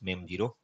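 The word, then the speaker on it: mem0: and you can see it's pronunci pronunciation as me zero so that's what the real pronunciation is now this is how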